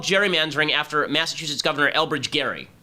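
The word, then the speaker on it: gerrymandering: happened it is called Jerry manering after Massachusetts governor Elbridge Gary is actually pronounced Gary it should be Gary mandering who signed a bill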